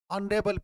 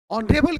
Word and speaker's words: honorable: but हम जब देखते हैं यहाँ पे ए लगा हुआ है लेकिन इस शब्द का उच्चारण फिर वही वॉवेल की तरह है.